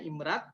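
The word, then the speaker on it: IMRaD: Nah ini pola-pola riset yang umum, sebenarnya ini standar internasional ya, IMRD ini, IMRAT ya, nyebutnya bacanya IMRAT.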